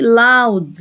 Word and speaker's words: loud: صوته عالي loud. الأو واليو بننطقها آو.